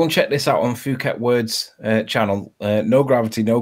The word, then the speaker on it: Phuket: there just let play carry on Arwen it's Phuket by the way I always hear it pronounced incorrectly innit word it